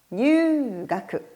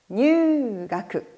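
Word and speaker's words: 入学: 입이라는 한자를 장음하시면 됩니다. 뉴가크, 뉴가크라고 읽어주시면 되겠습니다.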